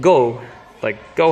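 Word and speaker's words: ご: coherent pattern anymore and it's called go like go home anyway then six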